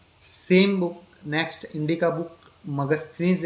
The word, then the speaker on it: Megasthenes: उसको मगस्थनीज भी कहा जाता है। मैं स्पेलिंग लिख देता हूं।